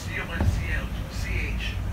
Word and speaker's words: conch: They're called conch houses, C-O-N-C-H, but it's pronounced conch houses.